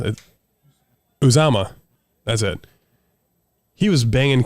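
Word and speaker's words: Uzomah: How do you pronounce it? Uzama.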